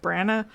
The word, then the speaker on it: Branagh: Branagh. Kenneth Branagh. I am not one to ever correct I don't anyone's know pronunciation.